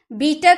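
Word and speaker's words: bitter: यहां पे जो आपको र दिख रहा है ना एक्चुअली बोलते टाइम ना हम र का उच्चारण नहीं करते। हम इस तरह बोलते हैं बीटर। बीटर नहीं बोलेंगे। ठीक है? आप ध्यान रखिएगा बीटर नहीं आपको बोलना। आपको क्या बोलना है? बीटर।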